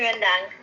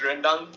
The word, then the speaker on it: rendang: My all-time favorite is chicken rendang. Oh, good taste, good taste, good Oh my taste. gosh, guys! I love how Rachel pronounced rendang correctly.